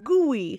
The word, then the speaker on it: gooey: then E I know there's four letters but there's only two sounds there it's O and it's e goo gooy and that ooh how